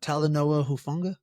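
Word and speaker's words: Talanoa Hufanga: How do you pronounce it? Uh, Talanoa Hufunga.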